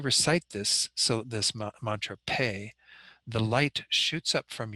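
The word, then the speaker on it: phaṭ: recite the wrathful mantra pay the h after the p doesn't make it an f sound it makes it an aspiration with the p so it's a p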